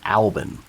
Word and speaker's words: BRFXXCCXMNPCCCLLMMPRXVCLMNCKSSQLBB111116: Pronounced Albin.